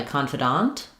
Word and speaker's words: confidant: So for confidant versus confident, the difference here is that in confident, we stress the con syllable. In confidant, we stress the dant syllable.